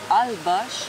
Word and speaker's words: Holbox: L-B-O-X, mais ça se prononce Ch. Fait qu'on dit Holbosh.